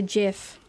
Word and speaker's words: GIF: Yeah, it's pronounced the same way as the peanut butter.